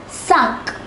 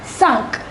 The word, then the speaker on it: cinq: Number 5 is cinq. sunk.